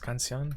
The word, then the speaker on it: canción: But I've been quiero practicar en la is it canción? Is canción how you pronounce it?